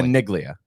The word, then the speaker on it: Caniglia: correct yeah that that family is caniglia whole different family caniglia they're not related in any way what's crazy okay hard G then hard G hard G what's crazy uh Mike